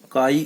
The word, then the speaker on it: chi: एक टर्म है magnetic susceptibility, ध्यान रखिएगा, मैग्नेटिक ससेप्टिबिलिटी, इसको रिप्रेजेंट करते हैं काई एम, इसका प्रोनाउंसिएशन क्या है, इसको प्रोनाउंस करते हैं काई, CHI काई, ध्यान रखिएगा, CHI काई, काई कहते हैं इसको, काई, ठीक है।